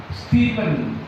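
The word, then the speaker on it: Stephen: Stepen ya tulisnya stepen bacanya stepen. E A dibaca I.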